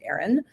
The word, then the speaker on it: Aeryon: Um it's called Aaron Wellness. So it's spelled a little different. It's a Ee y o n but it is pronounced Aaron.